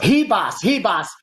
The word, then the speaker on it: Ribas: Oh, it's Ribas. In Brazil, silly the me. R is an H. It's an H.